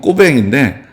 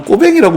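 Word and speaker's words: Cauvin: 그게 이제 원래 자기 태어날 때 가지고 있었던 이름은 꼬뱅인데 꼬뱅을 칼비누스라고 바꿔서 자기가 사용을 했던 거죠. 그래서 사실은 정말 이 사람이 프랑스 사람이라고 읽으려면 나는 꼬뱅이라고 불러라.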